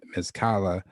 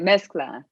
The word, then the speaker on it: mezcla: your personal projects uh i might be pronouncing this wrong mizkala uh which i believe this uh in spanish's mixture correct right mezcla yep mixed um how long